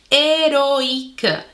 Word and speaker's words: héroïque: Alors ici, on a la combinaison de O, I, que normalement, ce son, il fait le son wa, et à la place de dire héroïque, on doit dire héroïque. Ça va faire que la lettre I se prononce séparément de la lettre O et ça empêche que le son wa apparaisse dans ce mot.